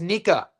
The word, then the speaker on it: Nika: David's last name is Nika. So, like the knee, we'll do it phonetically correct. Knee hyphen knee. Ka. Forget about it, ka.